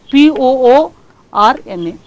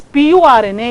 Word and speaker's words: Purna: Annapurna is replaced as, instead of, PURNA, it will tell POORNA. Now this becomes a wrong information because I am pronounced as PURNA, it has come as POORNA.